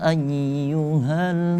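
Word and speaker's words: أيها: Di situ terdapat tasydid di atas huruf ya. Maka ketika kita baca jangan dilangsungkan tapi harus tahan di atas huruf ya. Karena tasydid itu berarti syiddah. Syiddah itu berarti menahan. Maka kita tahan dulu. Nah, maka kita baca kita tahan dulu. Ya nah, tahan dulu. Ayyuhal.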